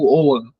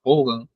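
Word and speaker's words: Ogham: Celtas né que é se escreve Hogan tá é o g h a m seja Hogan mas a pronúncia é tipo owan ohan uma coisa assim do tipo eh que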